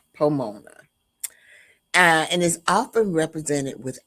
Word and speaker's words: Pomona: It rhymes with Ramona, Pomona.